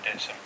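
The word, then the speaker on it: Dittisham: And over the years, Dedus' ham has become Didisham. Although locally we do pronounce it Ditson.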